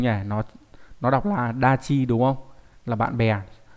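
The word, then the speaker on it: 達: Nó nó đọc là dachi, đúng không?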